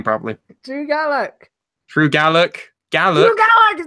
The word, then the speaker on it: Gulak: Drew Gallak.